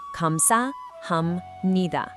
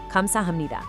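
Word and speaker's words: 감사합니다: Kam-sa-ham-ni-da.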